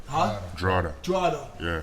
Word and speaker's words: Drogheda: Drada. Huh? Drada. Drada.